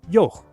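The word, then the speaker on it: yogh: glide y and ye, and the raspy sound at the end of its own name, yoch.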